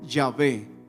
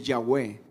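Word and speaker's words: Yahweh: que no es traducción en otras traducciones es llave o se pronuncia más originalmente ya ve dice a ese nombre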